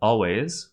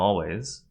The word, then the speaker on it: always: always which becomes I'm always next is always and on which becomes always on note that the S at the end of always is pronounced like a Z always not always but all ways we'll